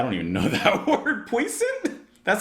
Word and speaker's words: puissant: Puissant? Hold on, let's give that a type in just so I know what that word means, because I never even heard of it. How do you say it? Puissant.